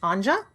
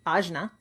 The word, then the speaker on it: Ajna: It is in Sanskrit pronounced Anja or Ajna, excuse me, Ajna.